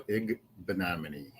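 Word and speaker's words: Igbinoghene: Noah Igbenogany.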